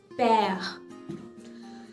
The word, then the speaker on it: père: Le père, père, P-E, accent grave, R-E, père.